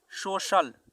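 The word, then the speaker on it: social: इसी प्रकार से सोशल, सोशल देखिए आई ए, सी के बाद आई ए आया तो यहाँ पे सी का उच्चारण तालव्य श यानी सोशल, सामाजिक।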